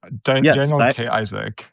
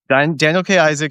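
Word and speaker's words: Daniel K. Isaac: his name correctly I have Daniel K Daniel K Isaac Daniel K Isaac who people might know from his uh recurring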